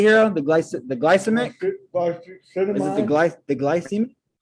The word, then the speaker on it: glycemic: how do you say hero the glyce the glycemic is the glyce the glycine glycemic yeah so